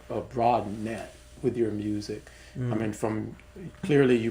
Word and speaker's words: Musick: you you you you've have a a broad net with your music.